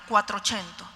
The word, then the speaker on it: quattrocento: primero que tenemos es esta palabra el cuatro chento y el cuatro chento ya no suena que es italiano perfecto ya sabemos que